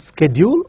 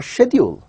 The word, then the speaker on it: schedule: Is it schedule or schedule? Well, when I refer to Oxford Dictionary, it says both the words are acceptable, both the pronunciations are acceptable. You can use it as schedule, you can also use it as schedule.